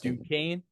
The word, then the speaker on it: Duquesne: And looking at where they are playing Morehead State, then playing the winner of BYU and what how do you pronounce it? Duquesne. Duquesne, okay.